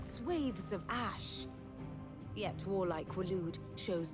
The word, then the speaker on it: Waloed: Yet warlike Waloed shows not the faintest interest in laying claim It's pronounced to Wallowed.